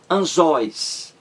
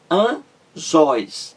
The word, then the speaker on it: anzóis: está certo outro exemplo anzóis anzóis duas sílabas qual é mais forte é a última porque aí é uma